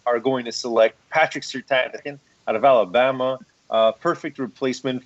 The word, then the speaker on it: Surtain: Although I gotta say, I think you're pronouncing your own name wrong. It's Surtain. Surtain. No, it's not. It's absolutely Surtain. I've heard this argument before. It's absolutely Surtain. It's Surtain.